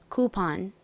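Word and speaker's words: coupon: 단어에서 오가 아예 가깝게 소리가 난다라고 말씀드렸었죠 자 발음 따라해 보세요 할인권 쿠폰 쿠폰 좋습니다 적어 볼게요 기억 소리 나는 C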